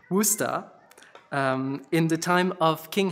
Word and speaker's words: Worcester: He was the Bishop of Worcester, pronounced Worcester, sorry, there's a little note on the pronunciation, Worcester, in the time of King Henry.